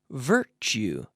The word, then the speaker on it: virtue: straw yes bitter tooth virtue virtue virtue now we have that tu sound so we say choo choo virtue like statue Portugal mixture virtue choo-choo-choo virtue bien está en Astana